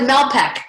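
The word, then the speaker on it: Malpeque: i pronounced it right mel pick b might make mel yeah anyway sounds like malpek okay thank you thank you for saving me okay malpek bay and pei excellent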